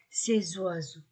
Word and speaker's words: ces oiseaux: ces oiseau masculin pluriel s entre deux voyeles ces oiseaux donc quatre adjectifs démonstratif